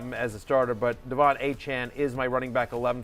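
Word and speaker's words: De'Von Achane: The correct pronunciation is Devon Achane.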